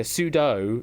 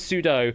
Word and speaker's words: sudo: So yeah, sudo. It's easy to it makes more sense to say as sudo, but it makes more logical sense to say sudo because that's what it does.